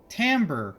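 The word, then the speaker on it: timbre: lot of musical terms thrown around things like tamber which is pronounced timber in the series because whoever was doing the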